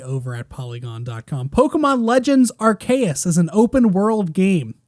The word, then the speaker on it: Arceus: say it and it's archaious i've i only read it that way because i read it like it's a latin word and latin c's